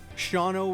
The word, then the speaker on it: Shawano: Shawano, Wisconsin.